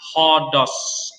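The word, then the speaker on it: ὁδός: Nah, misalnya tadi kata hodos, air, ya kan? Heurisko. Nah, itu diucapkan seperti suara H.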